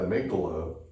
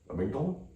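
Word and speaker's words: amygdala: the minute that that amydala amigdala yeah saying sorry I've been saying it wrong all these years but the day the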